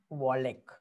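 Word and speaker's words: Wallace: नाम है उनका, अल्फ्रेड वॉलेक। ठीक है, चार्ल्स डार्विन एंड अल्फ्रेड जो है वॉलेक, कुछ लोग वॉलेस भी पढ़ते हैं, आपको जो अच्छा लगता है पढ़ो, मैं तो वॉलेक ही इसको प्रोनाउंस करता हूँ।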